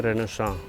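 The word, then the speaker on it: Renaissance: का, जिसका नाम है रेनेसां, और कुछ लोग इसको रेनेसेंस भी कहते हैं। करेक्ट प्रोनाउंसिएशन इसका है रेनेसां, जो कि एक फ्रेंच वर्ड है।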